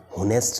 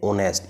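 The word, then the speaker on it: honest: होनेस्ट नहीं बोलते इसको, हम क्या बोलते हैं, ओनेस्ट। इसमें एच साइलेंट होता है, ये साइलेंट होता है।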